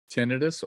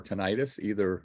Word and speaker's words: tinnitus: other hearings also, including tinnitus or tinnitus, either way is a correct pronunciation, where you get a